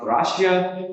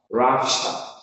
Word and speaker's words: Russia: But it is not Russia. It's Russia. First syllable is stressed.